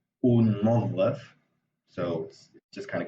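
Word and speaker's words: ننظف: But it just because it's like two ends, it's sort of, you can't really hear it, so it's unظف, so it just kind of gets fused.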